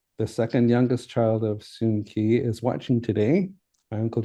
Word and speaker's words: Soon Key: I'm thinking that with this evidence and the newspaper clippings I have found, and the records with the Vancouver City that I have found point to Soon Key as the pronunciation he used in his life.